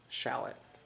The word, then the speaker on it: shallot: I might need to be corrected, but this is the shallot. Shallot? The accent on which syllable? It's not the one that sounds like the onion. It's the other one.